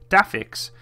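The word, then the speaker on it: DAFCS: flight control system or the da FCS pronounced day fix and greatly enhancing handling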